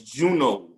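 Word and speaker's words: Juneau: the capital of alaska is what's known as juno juno is j-u-n-e-a-u juno arizona arizona like to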